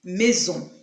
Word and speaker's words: maison: And it has the Z sound, which is pronounced when it is in between two vowels. And that's will be maison.